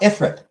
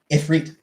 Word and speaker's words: Ifrit: It's not Ifrit. It is Ifrit. Everybody pronounces it Ifrit because it's that's how it looks.